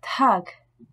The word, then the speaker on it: Tag: En début de mot, ces consonnes ne se prononcent pas comme le P de patate, le T de tomate ou le K de kilo, mais sont accompagnées d'un léger H aspiré, que l'on doit bien percevoir. Das Paar, le couple.